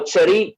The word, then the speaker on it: cherry: The first for cherry is ch. The second is k. Character. The third one is sh. Same alphabet, but then the sounds are different.